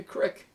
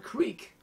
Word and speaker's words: creek: Oh, he is dripping like a crick. Or a creek. Depends on your perspective in the world, on how you pronounce this body of water.